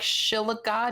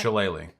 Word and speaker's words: shillelagh: cantrip that it's like Shilliga. Does anyone know how to pronounce that? Shillelagh.